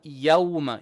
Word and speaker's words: يوم: Now, inna yawma. Ya is flat. Yawma. Yawmal fa. Fa is flat. Only the sword will be heavy. Don't say fos. No. Fa, so. Fa, so. Inna yawmal fasli.